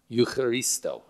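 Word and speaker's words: εὐχαριστῶ: You do not pronounce the CH. It's Eucharisto. Eucharisto.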